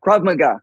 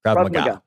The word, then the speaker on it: Krav Maga: Krav Maga. Krav Maga. Krav Maga. Krav Maga. Right emphasis on the wrong syllable.